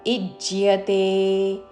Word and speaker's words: ఇజ్యతే: వెంటనే ఇజ్జ్యతే ఇజ్జ్యతే ఇజ్జ్యతే అని జ కి జవత్తు కాదు ఇజ్జ్య జ కి యా వత్తుతో ఇజ్జ్యతే విధి దృష్టో ഇജ്ജതേ യഷ്ടവ്യ